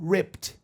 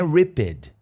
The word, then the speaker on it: ripped: completamente arrancado ripped off se liga nessa pronúncia do passado de rip to rip é arrancar passado ripped não é ried é normal para todos